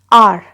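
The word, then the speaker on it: hour: तो यहाँ पे आप देख सकते हैं जैसे है वर्ड आर, यहाँ पे एच जो है वो प्रोनाउंसिएशन में नहीं आता, साइलेंट होता है, हम इसको रीड करते हैं वर्ड को आर।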